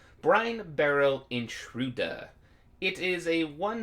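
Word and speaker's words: Brinebarrow: the format brenna barrow i am brian barrel that's how you pronounce that brian barrow intruder it is a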